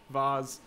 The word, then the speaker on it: vase: I am in Australia, we pronounce the word vase, um, not vase.